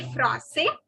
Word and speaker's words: français: The last S is not to be pronounced. This I am talking about boys. Je suis français.